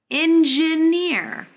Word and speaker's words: engineer: nznea it should be engineer here in engineer engineer yeah that's good engineer similarly try to pronounce the j in job very nice next in engineer the stress should be on near not engineer engineer engineer